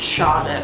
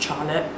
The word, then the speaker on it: Charlotte: My name obviously is quite a white name anyways, but it is not pronounced Charlotte, which a lot of people pronounce it as. It's actually pronounced Charlotte.